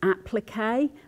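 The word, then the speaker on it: appliqué: And if you're talking to an English person about patchwork and quilting, they'll also be doing something called a plique, which actually you pronounce applique, but it's the exact same thing.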